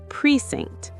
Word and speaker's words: precinct: Precinct. Preinct. It ends with a sharp t sound.